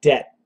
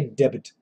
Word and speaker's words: debt: is it true that you do not pronounce the b in d-e-b-t yes Nelson that is very true we say debt debt d-e-t the exact